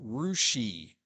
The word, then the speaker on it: Russia: sales and B Fountain Russ is course supposed to be Russia did they intentionally mispronounce that during the Cold War or something sure no they why didn't they just rename the city in spad this dumb rushi yeah Nigel if you're not in this area like Nigel says here try Russia it's not Russia oh how they pronounce it rousi and we assume it